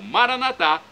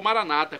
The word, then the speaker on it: Maranata: E agora do aramaico eu clamo Maranatá, como dizemos nós católicos, ou Maranata, como dizem nossos irmãos separados, os evangélicos ou protestantes. Não importa a pronúncia, o significado é o mesmo.